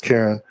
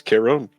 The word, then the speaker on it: Caron: Stuffino75 says it's not pronounced Karen. Please regale me with the correct pronunciation. Caron. Is it Caron? I don't know. I just speaking off. That was pretty accurate. Stan says Caron.